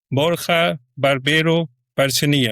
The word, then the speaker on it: Borja Barbero Bercial: always like to ask my guest who is Borja Barbero Bercial. And tell me if I pronounced your name correctly.